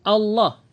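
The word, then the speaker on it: الله: Untuk syarah penjelasannya, pada bait ini beliau menjelaskan, yaitu Imam Ibnu Jazari menebalkan pengucapan huruf lam pada lafaz Allah apabila sebelumnya ada harokat fathah dan dhamma seperti lafaz Abdullah.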